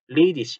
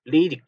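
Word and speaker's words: ledig: 원래는 이 히 해서 ladish 하고 있는 게 맞지만 이게 표준 독일어예요. 여러분들이 발음을 체크하실 때는 ladish 이렇게 읽으시는 게 맞고 시험도 그렇게 보시는 게 맞습니다. 그러나 지방에 따라서는 레이딕 이런 식으로 끝에 이 개를 그냥 이시 하지 않고 익 하고 읽는 경우도 상당히 있더라라는 걸 말씀을 드리는 겁니다.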